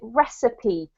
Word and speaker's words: recipe: say that word recipe, because it looks like receipt, but we actually do pronounce it recipe, and that is the instructions for cooking something.